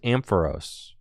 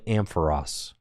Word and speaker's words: Ampharos: That's also where I learned that Ampharos is pronounced Ampharos, not Ampharos. My whole life, I thought it was Ampharos. But it's actually Ampharos.